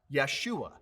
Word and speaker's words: Yeshua: not of great value there is no j sound in the hebrew language so joshua was actually pronounced yeshua in hebrew if you open to